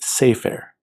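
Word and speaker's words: סֵפֶר: So our word for book is sefer, and our word for the book is ha-sefer.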